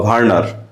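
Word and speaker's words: Werner: ডবলিউ ভি এর মত উচ্চারণ করে ডাবলিউ ইংরেজিতে ভি এর মত উচ্চারণ করে ওয়ারনার ওয়ারনার বা ভারনার 1965 সালে নিডারিয়ান পর্বের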